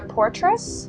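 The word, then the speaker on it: Poitras: Well, I had Frederick Weissman and then also Laura Portress. Oh, yeah. That's how it's pronounced.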